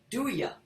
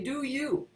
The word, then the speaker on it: do ya: uh classically trained that he wouldn't say do ya he would say do you we're going duh it doesn't rhyme with hallelujah hello right this this